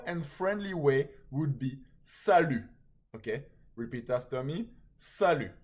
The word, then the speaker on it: salut: friendly way would be salute okay repeat after me salute I think you know this one but if you didn't it's salute and the t is silent which means hi okay